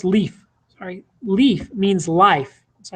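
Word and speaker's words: Líf: And Lif, by the way, is pronounced leaf.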